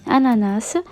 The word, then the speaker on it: ananas: façons différentes certains le prononce comme il s'écrie ananas d'autres ne prononce pas le set final est ce que